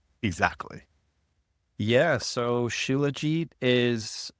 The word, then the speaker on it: Shilajit: So there's no like real, because it's a Sanskrit word. So Shilajit. I normally say Shilajit. But in Sanskrit, it's pronounced Shilat, actually.